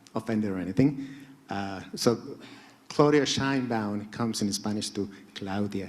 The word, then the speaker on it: Sheinbaum: The explanation is that in Spanish, vowels are always loyal, and they're always pronounced the same. You guys in English make a fair of vowels, and we are all struggling. So E in Sheinbaum is E.